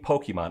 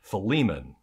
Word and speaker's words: Philemon: died and is risen paul has friend named pokemon ah there i go again philemon and paul probably baptized